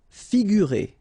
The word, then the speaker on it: figurer: Figurer. Okay, so here you get this G and U together without any vowel after, so you will pronounce this combination gu, sorry, figurer, figurer.